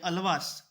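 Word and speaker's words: आळ्वार: अलवर भी हैं, अलावर भी हैं। अलवर की जगह अलावर जो है वो करेक्ट प्रोनाउंसिएशन है, उसका स्पेलिंग भी थोड़ी मिस्टेक है, आपको अलावर ही पढ़ना है इसको।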